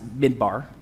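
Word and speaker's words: מדבר: love this stuff wilderness the phrase is pronounced mid bar and here's how they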